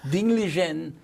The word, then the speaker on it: Ding Liren: Ding Liren. Yes. Of China. Yes. You told me the correct pronunciation. No, bravo. Ding Liren, Chinese Grandmaster Ding Liren, who happens to be 30 years old, was his opponent.